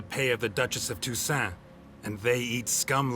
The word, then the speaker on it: Toussaint: Okay, so it is Toussaint, like French. The last T is silent.